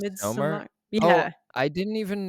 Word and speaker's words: Midsommar: You have the May Queen from how do you pronounce it? Midsommar? Midsummer.